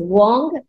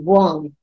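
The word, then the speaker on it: Weng: the Mantra here is Wong w e n g but we pronounce it as w o n Wong okay and we'll visualize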